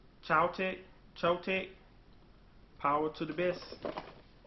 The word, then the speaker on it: Choetech: Chotech, Choetech.